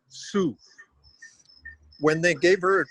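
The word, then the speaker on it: Cao: know the international students her last name is spelled c-a-o and it's pronounced sue when they gave her a diploma they called her hannah cow and it embarrassed the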